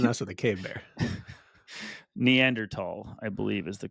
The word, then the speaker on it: Neanderthal: don't want to mess with the cave there neander tall I believe is the correct way to say